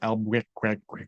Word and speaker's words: Albuquerque: it's pronounced Albuquerque.